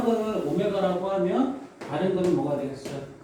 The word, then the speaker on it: 오메가: 그 한 허근을 오메가, 이거 오메가라고 해요. W라고 읽지 마세요.